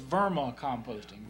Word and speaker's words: vermicomposting: But if you would pronounce that name, because if I pronounce it, I'll just butcher it up. It's vermicomposting.